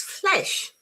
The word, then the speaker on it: flesh: This is flesh as in bed.